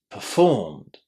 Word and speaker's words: performed: And now did you hear where I put the stress inside this word? Listen again. Performed. There is very very strong stress on the second syllable. And this first syllable there sounds very very short.